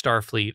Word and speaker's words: Starfleet: they tried to contact Starfleet although he pronounces it Starfleet the emphasis that he put on star not Starfleet at Starfleet and they